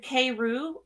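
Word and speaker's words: Karu: of my favorites so this is a k-roo brooch it's spelled k-a-r-u it was it's what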